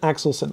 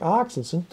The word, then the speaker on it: Axelsen: pronounce your last name well i pronounce it axelson i understand from norwegian colleagues and it should be something like accidents but um i could be entirely wrong so it's just acts